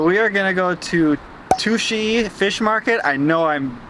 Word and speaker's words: Tsukiji: it right here below, because the subway kind of said like sushi, but I know that's not right. We all know that's not right. So Tsukiji Market, which I believe is how you pronounce it, is first and foremost